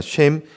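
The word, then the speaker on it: שם: 하나님께서 주신 명령인 온 지면에 흩어져 살라는 명령에 거절해서 바벨이라는 곳에서 성을 쌓고 자신들의 이름 히브리어로 쉔이라고 발음하는데요. 그러니까 쉔, 그 이름을 높이려는 시도를 했었고 그 가운데 하나님께서 그들의 쉔, 그 이름을 흩으시고 하나님의 쉔인 하나님의 이름을 알리신 사건이다.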